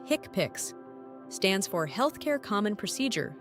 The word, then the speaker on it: HCPCS: HCPCs pronounced hickpicks stands for healthcare common procedure coding system.